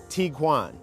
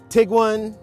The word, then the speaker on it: Tiguan: there's a little confusion over how exactly to pronounce this vehicle's name so I looked it up and it is Tiguan it's not Tiguan it's not taigan and don't try to Google it because you're